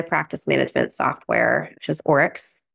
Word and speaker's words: Oryx: um love my practice management software which is orex o r YX um I spell it when I first started everyone's like excuse